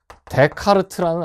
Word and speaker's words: 데카르트: 아저씨이 아저씨 누군지 알까요네 스라고 읽으면 안 됩니다 자이 친구 누구냐면 친구 감히 선생님이 이에 대해서 친구라고 위대한 수학자이자 철학자네 데카르트는 아저씨이 아저씨를 위에서 교육